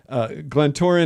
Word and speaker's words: Glentoran: And is this, if I pronounce this wrong, I apologize, but Glentoran FC, how would you say that properly? Nailed it. You nailed it. That's Glentoran perfect.